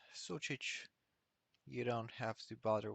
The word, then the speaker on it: Sucic: my name is s-u-c-i-c it's pronounced such you don't have to